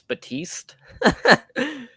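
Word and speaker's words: Baptiste: people like oh well maybe the P is silent seems like as someone that watches wrestling I'm just going to assume that it's batiste cuz that just makes the most sense to me and I know that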